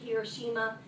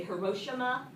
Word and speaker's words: Hiroshima: We pronounce it Hiroshima. In the video you're going to watch today, they say Hiroshima. But either way, you'll hear it both ways.